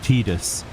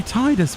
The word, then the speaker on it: Titus: of the things waterbased are you really telling me that people think that Titus is pronounced tetus no it'd be tius wouldn't it as in the tides of yeah of course tius not tus because the eye is not long the eye is not